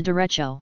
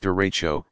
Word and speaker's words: derecho: refracting sound downward you what is a derecha you pronounced derecho this is large long-lived